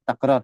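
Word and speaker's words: تكرار: Bacanya takrar ya. Jadi takrar. Sudah kita tanyakan juga dulu. Pernah ditanyakan ke guru kami. Ustaz Syed. Sudah lama. Cara membaca apakah takrar atau takrar. Beliau membacanya dengan takrar. Dengan fathah.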